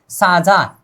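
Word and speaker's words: 사자: यहां पर है साजा, क्या साजा, साजा, साजा समझने के लिए राजा समझिए, ठीक है, राजा का मतलब होता है शेरी राजा होता है। इसका उच्चारण क्या करना है अब हम, साजा, साजा, क्या साजा, साजा क्या होता है शेर।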